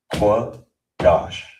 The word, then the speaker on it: Qadash: So you it will be pronounced qua dash.